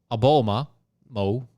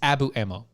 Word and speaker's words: Abu Ammo: evidence uh that uh a bulma mo i keep on doing it wrong because abu ammo it's abu ammo okay that's where i'm going with it because that's how it's spelled abu ammo sure the prosecution presented